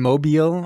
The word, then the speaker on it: Mobile: Yeah, Mobile, Alabama. I didn't want to say it wrong. I didn't want to say it like mobile, like an idiot.